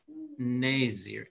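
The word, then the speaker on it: נזר: Nazir.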